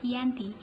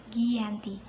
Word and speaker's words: Giyanti: Nama Giyanti diambil dari lokasi penandatanganan perjanjian tersebut, yaitu di Desa Janti. Dalam pelafalan Belanda disebut sebagai Ianti dan secara tertulis dibaca Giyanti. Dan sekarang daerah tersebut sudah terkenal di Kerten, Jatiharjo, Karanganyar, Jawa Tengah.